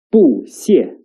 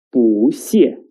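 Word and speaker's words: 不谢: The original tone of 不 is the fourth tone, 不. But when 不 meets the character with the fourth tone, its tone will change into the second tone. That is 不, 不. For example, 不 and 谢 together is not read as 不谢, but 不谢, 不谢.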